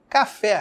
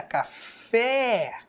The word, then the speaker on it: café: palavra empada ó empada café café perceba que café é uma oxítona empada é outra para